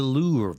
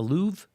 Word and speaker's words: Louvre: artist and CNN is the Louvre server how do you say that it's that Fred the louvre louvre louvre louvre right yep boy finally someone